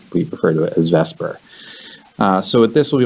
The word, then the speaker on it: VSEPR: arranged in 3d space using the Vesper model I know it's it's spelled VSEPR VESA / if you call it Vesper no one's going to know the difference it just rolls off the tongue a little bit easier that's why we've refer